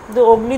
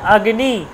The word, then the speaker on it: অগ্নি: লতা হয়ে গেল তাদের উদাহরণ দেখুন আমরা বলছি আগ্নি আগ্নিহি দেখুন আমরা বাংলায় বলছি কি অগ্নি অগ্নি বলি আমরা আরে অগ্নিটা জ্বালিয়ে দে অগ্নি প্রজ্জবলন কর এরকম বলি অগ্নি তো নয় আসলে ব্যাপারটা হচ্ছে আগ্নি আগ্নি এটাকে বাংলা কি হচ্ছে অগ এরকম হচ্ছে